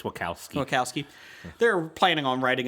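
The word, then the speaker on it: Wachowski: Uh, according to Latino Review, the Wacowski Wowski siblings, is that how you say it? Wow. I think it's Wakowski.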